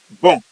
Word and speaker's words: bon: The N remain silent in French. So the feminine form you now put is what the spelling B O N E.